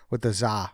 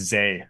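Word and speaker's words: Zah: you're going with the Za Frazier one. I believe it's Zay. I believe we pronounced it Zay.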